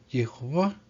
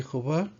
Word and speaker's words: Jehová: Y su nombre se pronuncia Jehová.